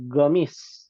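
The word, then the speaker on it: قميص: Hadza qamisun. Ini Kemeja. Ini kemeja. Ya. Qamis. Orang Yaman membacanya gamis.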